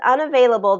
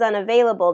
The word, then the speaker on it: unavailable: 5 syllables in this word. 5 syllables. Unavailable. Unavailable. Unavailable. So third syllable stress in this one. Unavail. Veil. Unavailable this afternoon. All right, and 5.